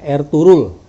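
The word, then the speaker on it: Ertuğrul: harus betul juga ya ditulisnya ertugrul ternyata cara membaca mereka er turut hilang huruf b nya seperti orang membaca Erdogan ya tulisnya Erdogan ternyata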